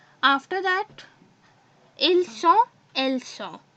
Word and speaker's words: sont: After that, ils sont, elles sont. I have told you that we don't pronounce this S in both of them, and its pronunciation is sont.